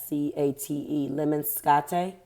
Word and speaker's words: lemniscate: The infinity symbol, also known as lemniscate. Now this is going to bother me. Leminscate. Lemniscate.